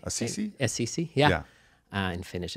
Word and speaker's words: Assisi: Saint Assassin, or how do I pronounce that correctly? Assisi? Assisi, yeah.